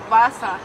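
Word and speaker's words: Wasser: No, we say Vasa, like a V?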